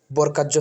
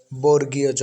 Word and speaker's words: বর্গীয় জ: হচ্ছে বর্গীয়জ কিংবা বর্গজ আমরা অনেকে এটাকে বর্গাজ্য পড়ি কেউ বর্গীজ্য পড়ি কোনটাই সঠিক নয় সঠিক উচ্চারণটি হচ্ছে বর্গজ কিংবা বর্গীয় জ বাংলা একাডেমীর বইতে এরকমই লেখা বর্গজ কিংবা বর্গীয় জ হবে বর্গকার জ্য নয়